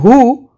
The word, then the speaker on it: who: So when you are saying true G is silent here in who? W is silent.